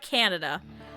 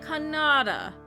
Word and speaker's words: Kannada: No, see, she would have always said it ka. So it would have come out with like a O. Not Canada. Kannada, right?